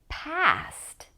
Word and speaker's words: past: And the second one, past. Past. Try to make the second one with the mouth more open. Pest, past. Can you make the difference?